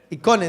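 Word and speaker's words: εἰκών: Icone. Icone, diga conmigo icone. Exactamente. Esta palabra de hecho más bien tiene el acento en la E, ¿verdad? En la O, icone.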